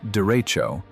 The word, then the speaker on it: derecho: A derecho, pronounced derecho, is a widespread long-lived windstorm associated with thunderstorm squall lines and quasi-linear convective systems.